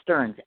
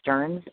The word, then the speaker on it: Stearns: And, of course, Chiba, as he said, and that's spelled C-H-I-B-A, and Stearns, S-T-E-A-R-N-S.